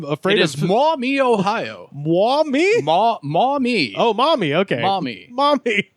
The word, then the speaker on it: Maumee: name because I'm afraid of small me Ohio mommy oh Mommy okay Mommy Mommy which you know a lot of people mispronounce his mommy okay which happens so our